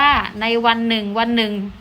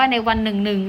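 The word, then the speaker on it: วันหนึ่ง ๆ: 1 ก็ อ่าน ว่า ใน วัน หนึ่ง วัน หนึ่ง นัก เรียน ลอง สังเกต ดู ว่า เรา จะ อ่าน ว่า ใน วัน หนึ่ง หนึ่ง หรือ ใน วัน หนึ่ง วัน หนึ่ง นะ คะ คำ ตอบ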